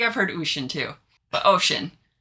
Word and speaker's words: Oisin: say it, but It's ocean or ush-in. Ush-in? Okay, yeah. I heard I think I've heard ush-in, too. But, ocean.